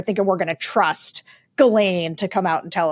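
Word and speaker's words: Ghislaine: truth about all this the Galain is Galain is exactly how you pronounce it.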